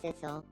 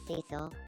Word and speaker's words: Cecil: My name is Sisle. My name is Now we're going to say it like Cecil. My name is Cecil.